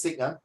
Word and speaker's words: Sikh: Take note, it's pronounced as Sikh, S-I-K-H, Sikh.